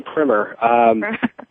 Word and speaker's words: primer: Yeah, some say primer, some say primer.